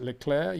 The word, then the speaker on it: Leclerc: I watch Formula One on Canal Plus, a French channel, and for the record, they pronounce it Leclerc.